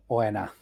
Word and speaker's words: Oena: Uoinonota. It's Draconic for hell. Oena. I sure is on that. Oh God. Oena. So it's kind of akin to Gehenna.